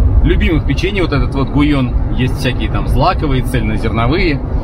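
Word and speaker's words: Gullón: вывеска видите написано ну большинство прочитает как гул он вообще 2л это гуй он читается по-испански и это очень известная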